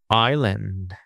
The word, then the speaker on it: island: And we can say that since the underline A is in the weak syllable, because the stressed syllable is I, island. For weak expressions, weak syllables, we are going to use the straw sound.